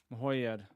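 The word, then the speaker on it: Mrhojed: Mahoyed. Poor wretch. Mahoyed. Yeah, that's how you say it.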